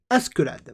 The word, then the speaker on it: Askeladd: Oh putain, j'arriverai jamais à le prononcer. Askeladd, voilà, Askeladd.